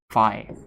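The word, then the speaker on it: phi: it tells you so it's not F and S what it is spelled like this this is SII and this is fi okay SII and fi SII and fi they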